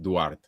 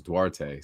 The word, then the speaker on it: Duarte: actually my middle name so in Portuguese it's pronounced Dart so it sounds like Dart but all the homies and growing up it was dwarte so it's stuck it's been that way it actually started as dwarte before the actual proper pronunciation so it goes both ways no Diddy so you